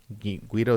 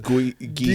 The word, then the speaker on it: Gui: Guido Santos. I know I said it wrong. I'm sorry. He said Guido. How do you say it? Guy Santos.